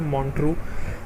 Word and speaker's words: Montreux: इसका जो प्रोनाउंसिएशन होता है वो होता है मॉन्ट्रू।